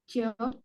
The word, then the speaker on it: child: Cara bacanya child nih. Oh, child. Child. Mana sih ya tulisannya? Child. Child. Itu ada D-nya di belakang.